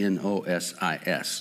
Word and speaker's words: gnosis: for no is gnosis I don't know if they pronouned pronounced the G or if the G is silence but it's g n o s i s nosis these individuals believe somehow